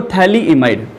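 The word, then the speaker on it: phthalimide: देखो थैलीइमाइड, मैं आपको दो ग्रुप बता रहा हूं, जरा नाम याद रखना इसमें। पी साइलेंट है, इसमें ध्यान रखना, एक ये है, एक आपका ये है।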